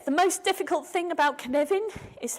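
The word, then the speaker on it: Cynefin: most difficult thing about canvan is how to pronounce it it's pronounce canevin it's spelled copin it's a Welsh word it was created by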